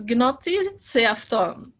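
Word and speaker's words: Γνῶθι σεαυτόν: I had an idea, but I did check, thank you, Photios, how to pronounce it. And if I got it correct, it's gnoti seafton, and it means know thyself.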